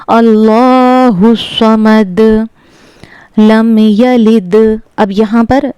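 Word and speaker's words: صَمَد: यह समद नहीं है। समद है। स्वाद को पुर करके पढ़ना है। स्वाद हुरूफ-ए मुस्तालिया के सात हुफों में से है जो हर हाल में पुर पढ़े जाते हैं। तो इसको हमने पढ़ना है समद।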